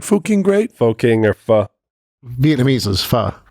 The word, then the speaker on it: pho: Foking or pho. Vietnamese is pho. Vietnamese is pho, but it's spelled PHO, right? Yeah.